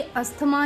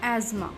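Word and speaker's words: asthma: तो ये अस्थमा नहीं होता, इंग्लिश में हम इसको बोलते हैं एज़मा. एज़मा, इसकी सही प्रोनाउंसिएशन है एज़मा.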